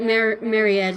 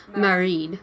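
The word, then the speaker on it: Máiréad: And it's actually, like, we thought that Mariette is how you say the name, the Irish name. It's Marid Marie. is how you say it.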